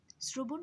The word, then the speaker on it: শ্রবণ: শ্রবণ বানানটার ক্ষেত্রেও আমরা দেখতে পাই, যদিও এখানে তালব্য স ব্যবহৃত হয়েছে, কিন্তু এটার উচ্চারণটা হচ্ছে দন্ত স, শ্র বলতে বলছি আমরা, আমরা তালব্য স্বয়ের মতো স বলছি না। তাই উচ্চারণ লেখার সময় আমরা লিখব হচ্ছে শ্র এবং বন।